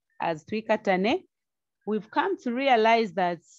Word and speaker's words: Twikatane: the name to katanae we normally call it katani but i'll pronounce it uh the zambian way tui katane trikatane simply means let's